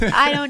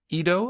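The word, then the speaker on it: Edo: 14 to study in Ido I believe that's how it's pronounced was present day Tokyo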